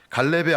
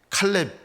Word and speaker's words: 칼렙: 갈렙의 아버지 여분네가 왜 아들 이름을 이상하게 지었는지 모르겠어요. 이스라엘 사람들에겐 부정한 동물이 있거든요, 개가. 근데 아들의 이름을 개라고 지은 거예요. 칼렙. 우리말 성경에는 갈렙. 원래 발음대로는 칼렙인데요.